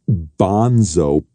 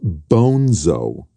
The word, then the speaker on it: Bonzo: Not Bonso, piss head, Bonzo. The name's Spanish.